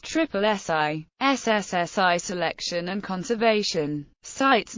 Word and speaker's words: SSSI: The acronym SSSI is often pronounced triple SI SSSI selection and conservation sites notified for their